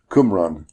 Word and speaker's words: Qumran: Yeah, I mean, it's spelled Qum, but you would pronounce it Kum. Okay. Qumran.